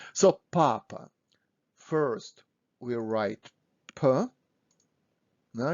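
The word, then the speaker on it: папа: ah so this is papa papa stressing is on first ah papa so pause my video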